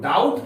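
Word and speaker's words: doubt: इसमें हम लोग पढ़ेंगे बी साइलेंट है इसको डाउट पढ़ेंगे डाउट की मीस संदेह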